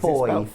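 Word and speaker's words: Fowey: Oh, do you say that Foy? Fowie, is Foy. It's spelled Fowie.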